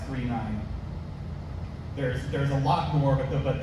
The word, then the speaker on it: 999: It's pronounced, I know it looks like 999, it's pronounced 39.